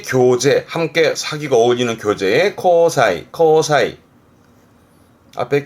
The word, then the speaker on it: 交際: 이게 교제, 함께 사귀고 어울리는 교제의 코사이. 앞에 게 실, 발음은 실제 뜻은, 발음은 지사이.